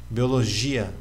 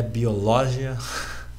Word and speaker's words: biologia: agora sem acento em biologia biologia biologia biologia E aí e não é biológia la biología é Biologia a a penúltima sílaba logo e se a